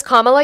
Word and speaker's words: Kamala: Her name is Kamala.